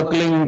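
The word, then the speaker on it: क्लीं: एक शब्द क्लीन शब्द क्या आधा ला में मिला हुआ, बड़ी की मात्रा और बिंदी, उसका उच्चारण होगा क्लीन गा की ध्वनि निकलेगी पीछे।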